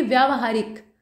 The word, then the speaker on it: व्यावहारिक: यह जो है ना व्य, उसमें माफ कीजिएगा आ की मात्रा रहेगी, तो इसको पढ़ेंगे व्यावहारिक। उसी प्रकार से तत्कालिक लिखा है।